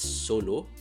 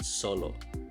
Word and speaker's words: Solo: No, it is not pronounced as Solo, but Solo.